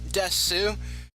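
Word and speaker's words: です: Now, it's spelled desu, but it's truncated to just des.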